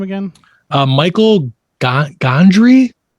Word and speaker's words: Gondry: name again uh michael gondry i think pronounced gondry g-o-n-d-r-y to be able